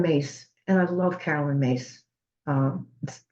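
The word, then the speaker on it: Myss: had seen Carolyn mace and I love Carolyn mace um M SSS my SS spell but it's pronounced mace and I watched her in the early years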